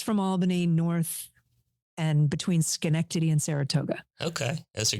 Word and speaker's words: Schenectady: about 45 minutes from Albany, north and between Schenectady and Saratoga. Okay. Those are good things to learn how to pronounce when you're young so you can go on to a broadcast career. You can pronounce Yes, Schenectady.